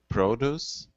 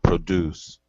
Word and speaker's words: produce: first one you said produce and the second one produce exactly so the stress changes between the adjective and the verb and that's common you see this pretty commonly when you have a word spelled the same one is a verb and one is an adjective usually the stress will make that jump of course it's not